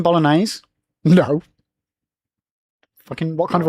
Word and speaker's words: bolognese: Did you just pronounce the G in bolognese?